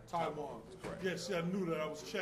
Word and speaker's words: TaiJuan: Now, I want to make sure I pronounce his name correctly. TaiJuan, how would I do it? It's TaiJuan. TaiJuan.